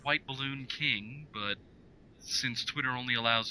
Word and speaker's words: WHTBLLNKING: Well, my Twitter is at, it's pronounced White Balloon King, but since Twitter only allows a certain limited amount of characters, it's spelled at WHTBLLNKING.